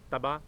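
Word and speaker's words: طبع: سواد کے اوپر جزم۔ تبا، تبا، توئیں کے اوپر بھی زبر، بے کے اوپر بھی زبر اور عین کے اوپر جزم۔ مرعوب، مرعوب کیا ہوگا،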